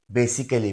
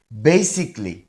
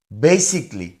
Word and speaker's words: basically: সি এই এল এল ওয়াই এটাকে আমরা অনেকে বেসিক্যালি বলি এটা আসলে ভুল উচ্চারণ এই সঠিক উচ্চারণ হবে বেসিকলি বেসিকলি এর বাংলা অর্থ হবে মূলত এরপরেরটা দেখেন টি